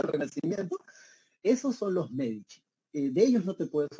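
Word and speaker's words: Medici: Mundial Duche en italiano Cuando tú veas la letra c esa c se pronuncia como Che ent por eso se pronuncia los Michi bieno que no it G entonces Francesco medich era un burgués él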